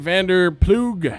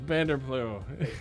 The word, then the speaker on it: Vander Ploeg: to be doing this vander plug no bander blue sorry good i had to pronounce the g at least one time direct response media group